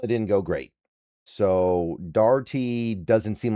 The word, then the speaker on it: Dougherty: But looking at Jimmy here, looking at Jimmie Dougherty, 47 years old, and I struggle pronouncing that name. It's Dougherty.